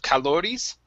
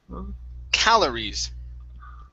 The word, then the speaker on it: calories: So your stress in this word is at the very beginning. Instead of calories, it's calories. Calories.